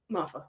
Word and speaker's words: Moffa: interviewed Jamie mafa MAA mafa mafa uh they tell me how to pronounce it in the see I think mfet but I just take the tea off so mafa but uh yeah they're